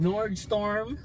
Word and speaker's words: Nordstrom: Ayan o basahin niyo yan nordstrom ra ngayon pronounce ko ng maayos nord storm na ko siya ng maayos kasi nababasa ko